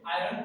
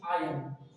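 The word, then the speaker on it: iron: आई आर ओ ए, इसको हम लोग आयरन बोलते हैं, लेकिन इट इज रॉन्ग। Don't say आयरन, this is आयरन। आई आर ओ ए, we read it आउट आयरन।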